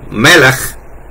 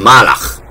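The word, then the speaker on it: מלך: Y así hay muchas palabras como para Melaj, que es rey, ellos le dicen malaj en árabe.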